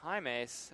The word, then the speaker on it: Himes: middle now it was a correction on the pronunciation that's Himes on the reception he's limping